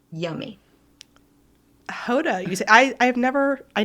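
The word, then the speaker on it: Gouda: that I was pronouncing guda incorrectly everyone does it's it's actually I learned that in my cheese class um it's how is how you say it in Dutch so very soft G yeah all right interesting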